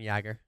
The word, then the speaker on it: Jaeger: And you'll learn a lot about Eren Jaeger. Or Jagger, or whatever you want to pronounce it.